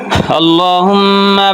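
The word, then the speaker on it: الله: এরপরে হল দ্বিতীয় অংশ আল্লাহুম্মা বারিক আলা ওই আগের মতই যে আল্লাহ মোটা হবে হুম ভিতরে গুন্না হবে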